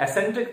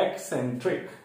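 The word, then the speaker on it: eccentric: एक्सेंट्रिक का sound आता है ई के बाद, तो एक्सेंट्रिक। इसे कई लोग एसेंट्रिक पढ़ देते हैं, लेकिन इसका सही प्रोनाउंसिएशन है एक्सेंट्रिक।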